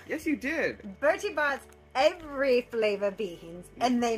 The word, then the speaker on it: Bertie Bott's: Barry Bott's. Burton. Bertie. Wow, I said it wrong. Yes, you did. Bertie Bott's every flavor beans, and they mean every flavor.